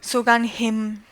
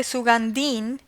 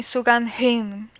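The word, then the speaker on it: सुगन्धिम्: age for example in the in the word sugan him so we could in spanish we could say sugandin because in a spanish stage is mu is soon spoken but in the repronunciation sugan him barthanam vandanam so these are little details that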